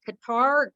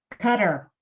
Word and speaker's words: Qatar: we're doing and again sorry it's Qatar Qatar um so it's one of our amazing destinations right here cutter cutter okay perfect thank you so